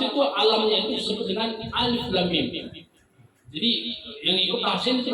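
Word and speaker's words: الم: Di Quran surah Al-Baqarah ayat pertama, alam juga tulisannya, tapi bacanya alif lam mim.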